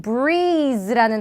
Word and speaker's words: breeze: 그런 breeze라는 단어가 주기적으로 등장하고요. 이때 z 발음이니까 조금 z 하고 입안이 울리게끔 여러분들이 발음하시면 좋죠. 그래서 we are expecting, 잠깐 쉬시고, a cool breeze, 그리고 in the evening 이라고 하시면 됩니다.